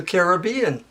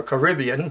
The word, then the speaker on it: Caribbean: She sailed a boat all around and through the Caribbean, or Caribbean, whichever way you want to pronounce it.